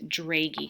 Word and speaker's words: Dragey: It's pronounced Dragey, kind of like an A sound, if that helps.